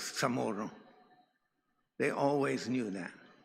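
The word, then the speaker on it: CHamoru: But every one of them knew since the very beginning that it isn't pronounced chamoro. They all knew it was tamoro.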